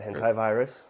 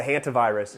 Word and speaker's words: hantavirus: The hentai virus? No. How do you say it? That's what I was calling it the other day on our other podcast. The hantavirus.